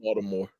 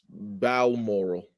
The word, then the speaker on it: Balmoral: How'd you say that? Balmoral. Oh, Balmoral. Baltimore. How you pronounce it? Balmoral. Balmoral. That was from Baltimore.